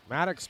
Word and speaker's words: Maddox: It's OX as opposed to UX.